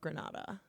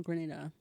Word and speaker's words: Grenada: Using TCP IP and the US invasion of Granada. Oh, Grenada. Grenada. Am I saying that wrong? Grenada. There we go.